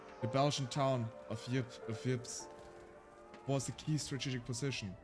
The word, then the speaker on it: Ypres: Ypres, a town in ruins. Dubbed Whispers by the British troops due to difficult pronunciation. The Belgian town of Ypres was a key strategic position during the war.